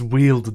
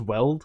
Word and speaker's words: Weald: to live in the Weald, where her wildness would be welcomed. Oh my god, he confirmed it. I could have looked it up this whole time, but it's Weald, dude. It's not Weld.